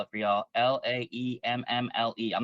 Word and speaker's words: Laemmle: Laemmle. I'm not from Los Angeles, um, so I don't know this. I'm not familiar with this theater, but the Lamel, I believe, is how you pronounce Yes, it.